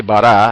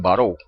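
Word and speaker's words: ברא: Fíjense, la palabra creó, dice en hebreo dice bará, aunque algunos lo pronuncian baró.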